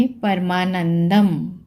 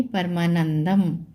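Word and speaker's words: परमानंदम्: तीसरा शब्द लेंगे परमानंदम, परमानंद नहीं पढ़ेंगे, परमानंदम।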